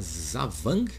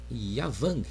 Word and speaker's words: Da Vàng: Califórnia estamos falando do d vang né ou pronunciando né na língua vietnamita Zang ou Y avang Depende se você está no norte do Vietnã ou no sul do Vietnã o Zang ou yavan